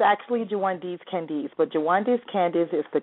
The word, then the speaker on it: Jwaundace Candece: W like to welcome my next special guest JIS Candace and did I pronounce that name correctly I've been practicing it all well you were close it's actually jandes Candis but jandes Candis is the closest that anyone's